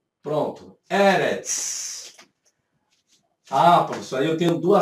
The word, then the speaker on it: Eretz: A tonicidade não está aqui. A tonicidade está aqui. Então, a sílaba tônica é a primeira e não a última.